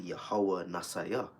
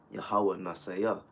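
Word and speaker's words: יהוה נסי: Okay, and when you get in the correct pronunciation of that would be Yahweh Nasayah. Yahweh Nasayah, which means Yahweh, our banner, or our ensign, our rallying point.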